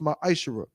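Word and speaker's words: מעשר: Means 10th in Hebrew and is pronounced ma'ishra.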